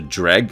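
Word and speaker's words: Dreugh: Tamriel at this time, as the Dreg as the game pronounces it, or Droog as you write it, according to the Daggerfall user guide, were rumored to be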